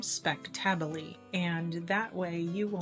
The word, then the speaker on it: spectabile: I'll put the spelling of the plant down in the description for you, and just to pronounce its name, it is Sedum speck-TAB-u-lee, and that way you